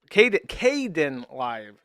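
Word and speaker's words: Kdenlive: KDE Kden Live is how you pronounce it.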